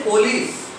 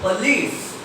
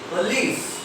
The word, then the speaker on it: police: This O is also pronounced as a. Don't say police. Don't say police. Say police. Police.